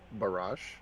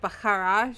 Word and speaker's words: Barash: down cuz was BR barash barash thank you I was going with bakar and I wasn't sure if that was correct probably a little bit more true to the draconic pronunciation that way I'm being